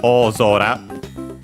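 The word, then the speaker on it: 大空: So yeah, o zora by the way accented on the zo. So on the first syllable of the second part of the compound classical spot for uh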